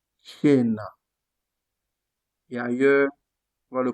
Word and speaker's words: cena: Comme on a dit par exemple, lorsque on a le C devant EI, on le prononce quoi? Je. Comme par exemple, cielo, cena.